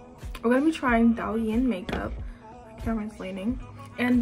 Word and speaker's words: Douyin: don't like that like just pronounce it da Yin we're going to be trying da Yin makeup camera is leaning